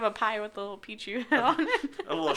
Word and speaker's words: Pichu: Yeah, like, my favorite Pokemon is Pichu, but you always called it Paichu.